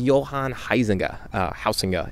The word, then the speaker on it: Johan Huizinga: His name's Johan Huizinga, if you want to do a more Dutch pronunciation, or the appropriate Dutch pronunciation.